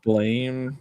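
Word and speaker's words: Blame!: apparently the intended pronunciation is blame, but it's fucking spelled with an E.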